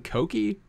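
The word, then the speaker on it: Kouki: Are you saying Koki? Yes, because that's how you pronounce it.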